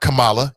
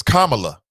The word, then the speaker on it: Kamala: Not Kamala. What was she? Not Kamala. It's Kamala.